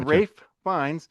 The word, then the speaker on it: Ralph Fiennes: I never knew that because when you say it Rafe finds, the F kind of blends into the F. So it's like it sounds like he's saying Rayines. Fines. So yeah, starring Rafe Fines.